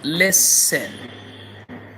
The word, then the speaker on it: listen: One letter is weak, one letter is silent.